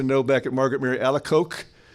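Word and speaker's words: Alacoque: back at Margaret Mary alako which I understand is the proper French pronunciation alako qu is a c so thanks yeah thanks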